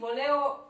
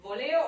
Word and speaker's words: boleo: First, maybe you noticed that you can see boleo written or maybe even pronounced in two different ways, with B or V, boleo or boleo. And well, what's the reason? Spanish, in the pronunciation, the V and the B are very close to each other.